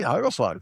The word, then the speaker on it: hagelslag: Hagelslag. That's perfectly Yep.